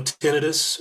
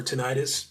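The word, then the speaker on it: tinnitus: and then you know tenus or tentis both both uh pronunciations are are are valid um that's that noise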